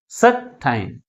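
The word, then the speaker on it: sometime: ఉన్నాయి టూ syllabus ఉన్నాయి అయితే ఏ సిలబల్ ఎక్కువ ఫోర్స్ గా పలుకుతుంది ఫస్ట్ సిలబలే మిగిలిన సిలబుల్ కంటే ఎక్కువ ఫోర్స్ గా పలుకుతుంది ఏదేది first syllable how we have టు relate this word సర్ టైం సర్ టైం first syllable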